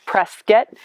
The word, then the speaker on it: Prescott: today from prescott arizona it's spelled prescott but the locals say press get and we're in an